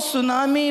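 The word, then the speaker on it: tsunami: सुनामी अत्यंत शक्तियुक्त बड़ समुद्र तरंग रो नाम सुनामी बोली देइछंती जापानीज वाला ही देइछंती। सेतमे टी रु स्टार्ट हुए, T silent सुनामी Japanese word था।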